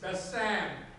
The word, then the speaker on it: Bassam: And just to help you a little bit with the correct pronunciation of my first name, it's Bassam. It rhymes with Shazam, but there's no Z sound in it.